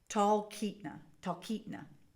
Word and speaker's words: Talkeetna: Talkeetna. She puts a pronunciation guide in there, so there we go.